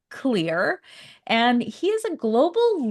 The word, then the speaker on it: Xlear: So now we know how to pronounce it. It's pronounced clear.